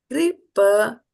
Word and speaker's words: कृपणाः: Kṛpaṇāḥ. So then this is a with a bar on top of it. So kṛpaṇāḥ.